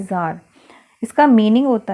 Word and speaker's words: Tsar: इन 1914 jar Nicholas second, देखिए ये actually spelling तो इसकी TSAR है, बट इसको पढ़ते हैं जार।